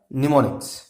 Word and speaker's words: mnemonics: तो this is द निमोनिक्स। निमोनिक्स के spelling आपको भी बताया मैंने, क्या लिखने हैं? MEMONICS। इसमें एम जो है वो साइलेंट है।